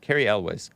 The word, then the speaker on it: Cary Elwes: How do you pronounce that name? Cary Elwes.